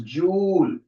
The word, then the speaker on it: joule: W SI unit is capital J which is pronounced as joule another popular unit is